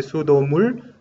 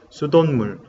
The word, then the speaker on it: 수돗물: No se dice sudomul, pero sudotmul, ¿sí? Por pachim siot, sudonmul. Aquí sí, aunque sí agregamos, cuando escribimos agregamos pachim siot, pero pronunciamos como nien, como hemos practicado con Álvaro, ¿sí?